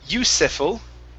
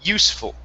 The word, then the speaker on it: useful: Next up, we have the word useful instead of useful. Okay, this E is not pronounced. We don't pronounce that one there. Okay, so it's useful. Try that. Hi. Useful? Yeah, so take out the E sound. Instead of saying useful, it's useful. Useful.